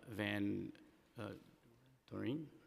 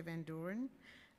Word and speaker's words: Van Doren: Call up the next panel, Adam Westrick, Candace Clemens, and Van Doreen. Did I say it right, Doreen? Okay. Hi, my name is Van Doren.